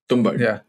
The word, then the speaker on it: Tumbbad: How's it pronounced? Tumbbad.